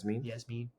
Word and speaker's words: Iasmin: That's how you say it, though, right? Yeah. Yasmin with an I on it, which is kind of weird, but that's what you get from Brazil.